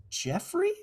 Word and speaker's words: Geof: Geoffrey, yeah. Yeah. Yeah, Geoffrey, yeah. and he comments like, "It's Jeffrey."